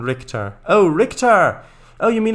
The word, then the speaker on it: Richter: Pronunciation Richter.